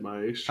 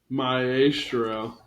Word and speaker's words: maestro: Bradley Cooper Cooper ma Maestro I've always said mestro I'm looking up the pronunciation I am too the phonetical spelling myestro mro oh Maestro mro so Dave's the idiot